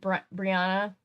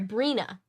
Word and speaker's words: Brina: aisle Kelsey minor answered Brianna uh sorry Brina I've been reading her name wrong I think it's Brina yeah it's Brina I was inserting an extra letter into her name it's Brina um Andrea's hysteric slid